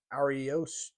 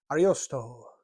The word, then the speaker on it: Ariosto: It sounds like you got to say that. Like there's like a flourish on the I. Ariosto. This looks almost like romanticy. Yeah, isn't that? Yeah, that's how you say it.